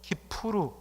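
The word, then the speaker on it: Kippur: 욤이란 것은 날을 말하고 키펄이란 것은 원래 히브리 발음으로 키푸르 이렇게 해서 속죄를 의미합니다.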